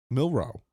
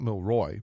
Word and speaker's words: Milroe: And then who do they have the do Oh, they got Milro Milroe, not Milroy, Milro going to the Steels viewing a trade.